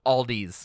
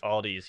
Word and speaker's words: Aldi: she pronounced it what aldi's aldi's yes there's an s on the end of it in pittsburgh everywhere else it's just aldi i am from only